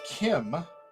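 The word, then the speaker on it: khim: came from thailand from the kim it's spelled k-h-i-m and english but it's the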